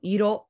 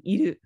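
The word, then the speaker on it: いろ: So, iro rather than iru.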